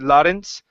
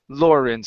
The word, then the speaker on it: Lawrence: this word here Lawrence give me a good R here instead of St lence Lawrence St Lawrence River try that St